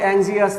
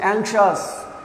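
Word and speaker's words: anxious: এটা কিন্তু উচ্চারণ অ্যাংজিয়াস না, উচ্চারণটা হচ্ছে অ্যাংশাস।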